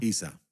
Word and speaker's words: Isa: ¿Cómo se Isa, llama? así lo ¿Isa? pronuncian. ¿Se llama? Isa.